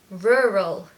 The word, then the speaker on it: rural: is a rural area now for the pronunciation what you need to do is make this very strange and unusual sound which is r r Ural rural the focus and the stress is on the first syllable and you need a